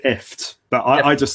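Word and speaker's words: IFTTT: I think you pronounce it ift, but I just say if this then that.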